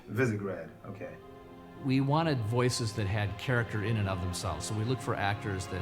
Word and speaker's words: Visegrad: It's pronounced Visegrad. Visegrad, okay.